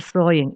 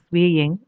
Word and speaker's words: sewing: It is called sewing. It's not swaying, SEW. This pronunciation is so.